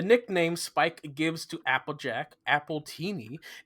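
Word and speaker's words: Appletini: The nickname Spike gives to Applejack, Appleini, is pronounced the same as the name as an alcoholic drink, Appleini, paralleling her original name,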